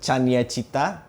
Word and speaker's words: Cania: By the way, guys, this is uh Chanya. Usually people pronounce it Kanye.